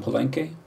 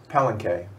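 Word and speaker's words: Palenque: I'll put one on penke, which by the way, that's how you pronounce it. Oh, it says the guy who speaks fluent or fluentish Spanish, right? Pelenke. It's not palenke. Penke.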